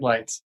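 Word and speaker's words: Leitz: and you are spell your last name l e i t z pronounced like lights okay all right any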